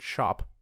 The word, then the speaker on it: scop: SC sounds like sh, so you'd pronounce SCOP like the word shop.